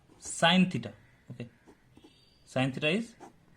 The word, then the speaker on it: sine: Okay, इसको हम complete नहीं लिखते, इसको जस्ट शॉर्ट में सीन लिख देते हैं, बट एक्चुअली प्रोनाउंस करेंगे हम साइन थीटा।